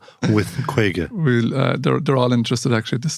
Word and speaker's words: Kwayga: supply chain partners and the reason that craig is called craig or quagga is because quake is the irish word for 50. it uh phonetically sounds the same spelled slightly differently for